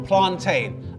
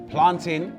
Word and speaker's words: plantain: today with dane's theory planting is pronounced tin because it's a common noun because the pronunciation is tin you know just like fountain or mountain common nouns the pronunciation